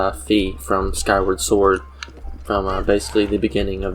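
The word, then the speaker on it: Fi: that is mentioning uh fee or phi or whatever you pronounce her as um i pronounce her as fee from skyward sword from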